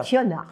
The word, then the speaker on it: Kiona: Kiona, Kionia. K-I-O-N-A, Voilà, ma prononciation.